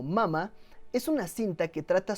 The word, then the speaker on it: Mama: Pronunciada en inglés como Mama, es una cinta que